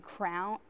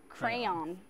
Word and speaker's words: crayon: I used to always get in trouble for saying crowns, like a tiara. Crown. Where does that pronunciation originate from? I don't know, but I got in trouble every time I said it. You got in trouble for that? Well, what's the right pronunciation? Crayon.